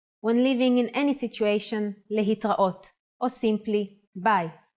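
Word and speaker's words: להתראות: Another way to say goodbye in Hebrew is lehitraot.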